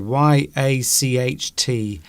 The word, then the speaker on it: yacht: How do I pronounce this word y ach t it just is yacht, yacht, yacht a yacht yacht. The word. I'll say it again. I'll get nice and close to the microphone. Yacht.